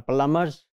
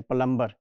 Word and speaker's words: plumber: they are mechanics they are carpenters they are plumbers here bar sound is silent we never pronounce it as plumber this is plumber they are attached with professions